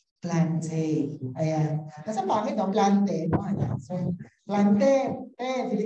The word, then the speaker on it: plantae: Ang tamang pronunciation daw ng plantae ay plantae, no? Yan, yung AE daw ay E lang talaga, no? According to classical Latin, no?